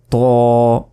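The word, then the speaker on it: طاء: তো এরপর দেখুন ত, ত, ত। জিহ্বার আগা সামনের উপরের 2 দাঁতের গোড়ার সঙ্গে লাগিয়ে ত, অনেকে এটাকে বলে ত, ত বলে, শুধু ত কিন্তু নয়, এটা মোটা করে বলতে হবে ত, ত।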